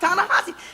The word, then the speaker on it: Ta-Nehisi: Oh, no, that's Ta-Nehisi. Well, no, it's pronounced Ta-Nehisi.